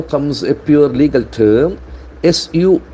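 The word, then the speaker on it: suo motu: Initiate, the accent force the second syllable, initiate. HC initiates. Now comes a pure legal term, Suomotu. Suomoto.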